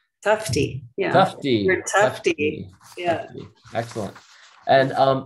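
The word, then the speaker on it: Tufte: aiga and workshops with edward tuft her design guru am i pronouncing that right tufty yeah yeah excellent and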